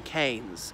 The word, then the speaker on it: Keynes: over the English Midlands em canes as in Milton Keynes well we say that we've ten pronounce the town Keynes rather than Keynes but that man said